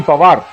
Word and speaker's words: Panwar: And then in Haryana, it is actually Pawar. The N is silent there. It's written as Panwar, but let's go with Umesh Pawar.